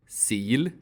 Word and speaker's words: sil: For example, the E vowel can be either long, E, or short, I. Sil. Sill.